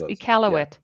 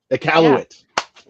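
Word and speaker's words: Iqaluit: I'm probably going to butcher it, but it's it's uh equal. It's probably close. Close. That is close. Ealowit. Ealowit. Thank you. Yeah. Um, it's spelled with a Q.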